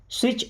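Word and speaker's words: switch: स्विच ऑन the light, देखिए T silent है ना, क्या पढ़ना है?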